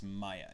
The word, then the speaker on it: Maja: It's Maya. Yes, it says Maja, but she's one of the youngest.